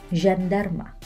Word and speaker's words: jandarma: Nah, huruf J bagaimana sih cara pengucapannya? Yaitu je. J. Contohnya kata jandarma. Jandarma.